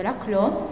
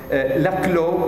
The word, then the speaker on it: Laclau: Laclau perché lui stesso vantava una origine francese, quindi preferiva farlo pronunciare alla francese Laclau, quindi probabilmente mi scapperanno entrambe le pronunce, insomma, portate pazienza.